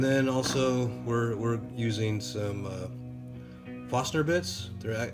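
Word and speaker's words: Forstner: also we're using some foster bits they're a it's actually spelled farst nert but pronounced more like fastener these are made for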